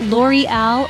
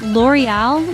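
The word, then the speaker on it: L'Oréal: had L'Oreal it's not L'Oreal or lurel it's L'Oreal with a soft L at the beginning and a stress on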